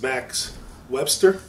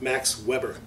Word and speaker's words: Max Webster: This is Max Webster, and I believe last time I pronounced it Max Weber. So I just wanted to make that correction.